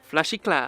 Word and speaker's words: FlashyKlau: very lovely and adorable FlashyKlau. Is that how you say it? I'm really bad at pronouncing things. FlashyKlau. You actually got it right.